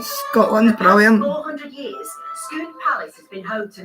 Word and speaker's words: Scone: Now, it's spelled Scone, but it's pronounced Scone.